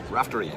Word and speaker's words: Raftery: Raftery, absolutely. Raftery. Most people get that wrong. Well, I tried. I curse Ronan Rafferty and Jerry Rafferty, who have forever ruined the pronunciation of my surname.